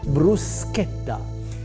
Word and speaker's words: bruschetta: how to say it's Bruce skepta which is spelled as ch but for us you pronounce like s and a K now the meaning behind